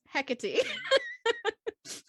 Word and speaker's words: Hecate: this name um so i've always said heck it and michaela was saying hey kate and google says hecate okay none of us is right none of us are